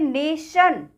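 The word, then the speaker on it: nation: वो मिस्टेक हो जाति है अब इसमें देखिए नेशन यह क्या लिखा हुआ है ना टी आई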